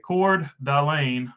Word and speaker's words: Coeur d'Alene: Okay, Coeur d'Alene, Mr. Berger, you did great. Appreciate it. do my best. Not the greatest pronouncer of stuff, even when I know how to say it with this accent.